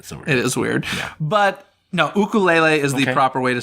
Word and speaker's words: ukulele: though right yeah it is weird but no ukulele is the proper way to say and they